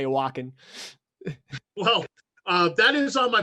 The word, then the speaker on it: Wacken: And I've seen video of them at the Wacken Open Air Festival, for instance. I think I'm pronouncing that right. Wacken. That's correct. Yeah, because the W has a V sound to it. It's German. Oh.